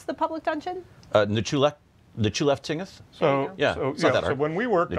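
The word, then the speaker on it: Nchuleftingth: How do you pronounce the public dungeon? Nechulef-Tingeth. So when we worked on it. Nechulef-Tingeth.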